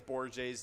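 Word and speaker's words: Borges: if it's borgy or bore jay or something like that or just kind of sounds right yeah gorgeous i think it's borja's to be honest yeah probably yeah yeah it is that's how you pronounce it yep wow gorgeous uh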